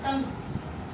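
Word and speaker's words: tongue: For example आपने एक word लिखा टंग, for example फटीग, इट्स an English word, English का एक वर्ड है, ठीक है।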